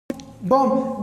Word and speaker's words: bomb: Bomb. B-O-M-B. The accurate since M is before B, so then the B is silent.